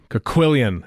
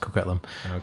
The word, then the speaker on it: Coquitlam: Coquillion is going to be amazing. Oh, no, it's pronounced Coquitlam.